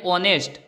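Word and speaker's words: honest: अभी-अभी देख लिया दोस्तों यह दोनों वर्ड लिखने में भले ही ऐसे लिखे जाते हैं लेकिन जब हम उनका प्रोनाउंस करते हैं तब एच साइलेंट हो जाता है एच बोलने में नहीं आता अब देखते हैं यूनिवर्सिटी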